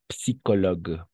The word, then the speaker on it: psychologue: Et aquí, no olvidemos, psicologue. Psi. O sea, vamos a pronunciar la P también.